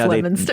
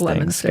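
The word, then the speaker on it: Leominster: Yeah, it's spelled right. It's just pronounced Lemonster.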